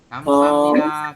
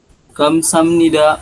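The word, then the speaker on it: 감사합니다: Kamsahamnida. Kamsahamnida. Hanya jangan jelas ya. Kamsahamnida kayak gitu ya. Bisa Nida. diulangi. Kamsamnida. Nah, atau kamsahamnida jadi cenderung ke K gitu loh. Itu juga boleh seperti itu.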